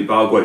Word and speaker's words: Paraguay: Oui, Paraguay. Je prononce ça comme ça parce que c'est notamment c'est comme ça en espagnol.